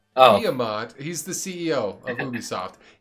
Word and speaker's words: Guillemot: Guillermo. Guillemot. Oh. Guillemot.